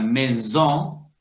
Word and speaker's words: maison: Bueno, Compare la palabra maison, en que había solo una S, por eso pronunciábamos Z.